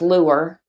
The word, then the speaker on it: Lewer: and then the last name is pronounced Lewer. It's Welsh.